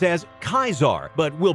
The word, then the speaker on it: Caesar: Fun fact, Caesar was pronounced as Kaisar, but we'll pronounce it as Caesar because it is more common.